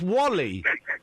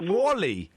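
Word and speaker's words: WALL-E: no Wally what w well yeah but it's pronounced Wally why would you call a film w e that's not like that doesn't sound like a name you pronounce it Wally no no no cuz thought like the whole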